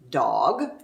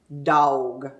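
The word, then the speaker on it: dawg: ask that he replied because you say dog when it's pronounced dog d-a-w-g well i learned very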